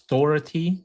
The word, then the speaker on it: Dougherty: I think his last name is pronounced as Dority, not Dority. Dor. Okay. Dority.